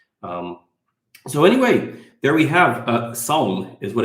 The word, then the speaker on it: Sawm: It's not the S sound like we have in English. They have two different S sounds in Arabic, and it's Sawm. So try to pronounce it in the back of your mouth.